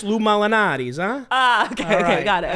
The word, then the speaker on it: Lou Malnati's: you to the background are you sure it's not pronounced Illuminati's though Lou malnaties there's I think you're making up blue molinati's okay I'm the Italian here all right it's Lou Malnati's huh okay okay got